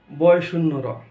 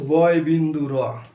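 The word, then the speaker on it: ড়: তুমি যার কাছে জিজ্ঞাসা করো গিয়া, সে এটাই একই বলবে, শুদ্ধ উচ্চারণটা বলবে বয় শূন্য র, কিন্তু এটা বয় শূন্য র নয়, এটা হচ্ছে বয় বিন্দু র।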